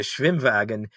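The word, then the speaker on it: Schwimmwagen: vehicles of anybody during world war ii the schwimwagen was like a a beetle-based uh amphibious car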